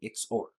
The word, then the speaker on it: XOR: the exclusive-or or simply can be pronounced as an the X or so the X or